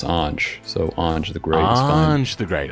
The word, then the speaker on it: Ange: I'm not too particular myself, but it's usually pronounced Ange.